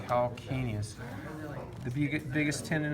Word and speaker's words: calcaneus: of spelled weird and some people want to say kal Sidious but it's a hard C sound calcaneus if you get biggest